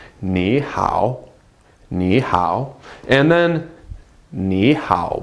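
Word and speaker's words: 你好: greetings last time Nihao again to third tones in a row if you pronounce them quickly Nihao no one's gonna know the difference and everybody's going to understand you I promise but again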